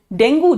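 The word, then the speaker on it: dengue: आभास, प्लेटलेट कम होने से डेंगू नहीं हो जाता, डेंगू के वजह से प्लेटलेट कम हो जाता है। ठीक है, डेंगू जो बीमारी है जिसको डेंगी प्रोनाउंस करते हैं एक्चुअली, उसके वजह से आपके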